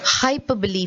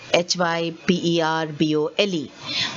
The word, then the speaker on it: hyperbole: We could very easily call it hyperbole, Hyperbole. But remember, the pronunciation is hyperbole. Okay, see the pronunciation here? The word is said very differently from the way it is written.